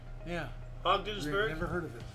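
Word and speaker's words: Ogdensburg: NORAD never heard of venberg how does that pronounce uh o ogdenburg yeah ogdenburg never heard of it h neither have I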